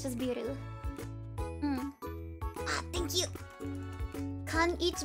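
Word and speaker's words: ビール: It's just biru.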